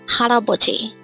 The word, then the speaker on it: 할아버지: We have hal, a, bo, ji. And if we read it as a whole, it becomes haraboji.